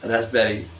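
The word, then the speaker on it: raspberry: बी के साथ देखिए फ़ौरन क्या आ गया है, साइलेंट वावल आ गया है। और रेस्पबेरी, रस भरी।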